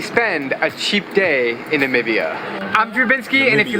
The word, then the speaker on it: Namibia: And that is how you spend a cheap day in Namibia. I'm Drubinski, and if you like my travel videos... Namibia. No, Lord. Namibia.